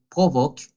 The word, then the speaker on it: provoquent: Le rythme de vie rapide et les horaires, la palabra horaire l'a prononciado bien, pero no ha hecho la liaison. Les horaires de travail assez longs provoquent, ok, ENT non, provoquent une augmentation du stress, surtout dans les grandes villes.